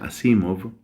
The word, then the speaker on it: Asimov: por ejemplo a isaac asimov que también se pronuncia así móvil qué es un escritor